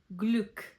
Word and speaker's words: Glück: c k make the sound k. For example, Glück. k u make the sound kv, for example, Quelle.